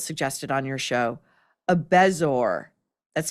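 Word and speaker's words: bezoar: something Jillian Michaels suggested on your show, a bezor, that's spelled be e zo a o a r, but it's pronounced bezor.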